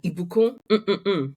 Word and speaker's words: Ibukun: So I obviously am Ibukun and Ibukun. Pronunciation is important.